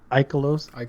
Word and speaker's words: Ikelos: that hand cannon, or how do you guys pronounce that? Ikelos? There you go. Ecleos.